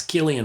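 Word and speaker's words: Cillian: Killian sorry I'm saying selan Murphy I always said it wrong because I look at it phonetically but it's Killian Murphy so Killian Killian Killian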